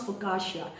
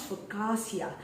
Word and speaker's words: focaccia: fukasha some people pronounce fukasha some people pronounce fasia and they might have